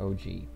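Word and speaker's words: 王子: But Japanese OG, not gangster OG. Okay, so it's pronounced OG.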